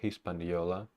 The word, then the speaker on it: Hispaniola: uh Hunter and I went back to the Hispaniola I told Hispanic what about pronunciation of hispanial I forgot Hispaniola Hispaniola Hispaniola